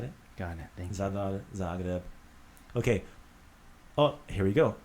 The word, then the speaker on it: Zagreb: So the Z, like in Zagreb, it's always pronounced with that Z sound. Got it? Got it. Thank you. Zagreb.